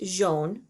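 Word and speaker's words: jaune: one is yellow and that's pronounced jean jean and the next is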